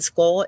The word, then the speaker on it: Scole: And Skull is spelled SCOLE.